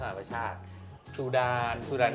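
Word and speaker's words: ชาด: เนี้ย อ่า ไนเจอร์ มาลี ชาร์จ อ่า เขา อ่าน ว่า ชาติ จริง ๆ เ อ่าน ว่า ชาติ ซูดาน ซูดาน ใช่ ๆ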